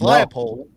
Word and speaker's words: Leipold: So, I thought I said the name wrong. It's Leopold.